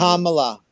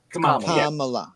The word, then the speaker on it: Kamala: Kamala. Kamala. Yeah. Okay. Accent on the first.